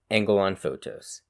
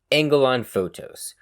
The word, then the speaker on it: Angelon Photos: Angelon pronounces the S like the one in fructose, while Yusufa uses a Z sound as in the plural of photo. Yusufa. Sorry, angling on photos? Angelon Photos. Angelon Photos.